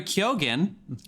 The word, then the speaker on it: Keoghan: And Barry Keoghan, that is how you say that name, who was in Killing of a Sacred Deer with Colin Farrell.